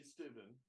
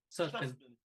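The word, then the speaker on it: Sutphin: why I went with Beverly Steuben, if I got the wrong, Suchbin. Suchbin.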